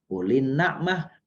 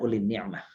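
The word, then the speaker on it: أُولِي النَّعْمَةِ: Bapak Ibu yang kemuliakan, cara membacanya adalah uli na'mah, bukan uli ni'mah. Uli na'mati.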